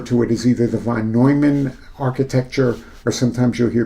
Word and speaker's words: von Neumann: It's not von Neumann, Neumann, N-E-U. You would say that, von Neumann.